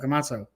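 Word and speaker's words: Camacho: kamota CA is that what his name kamacho kamacho yes pronounce the pronouncing wasn't there um but yeah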